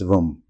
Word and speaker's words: vam: crescent moon the beige Mantra of this chakra is vam pronounced as vom while reciting the Mantra